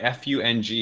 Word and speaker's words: Fung: And so what they've actually done for Fung, they actually write F-U-N-G in the prompter, so we say it correctly. Yeah. I think he's maybe messing with you all a bit, but that is how it's pronounced.